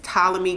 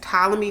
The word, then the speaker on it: Ptolemy: Also, another one that I told you guys about a long time ago in a vlog, which is Ptolemy Gray.